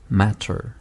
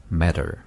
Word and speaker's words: matter: 그리고 세 번째 단어가 matter인데 T 발음을 해버리면 matter. 이렇게 되겠죠. 네. 그런데 약한 D 발음을 해버리면 matter. matter. 네.